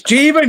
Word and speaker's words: Jeevan: It's Jeevan because I saw him at Expo. He actually told me.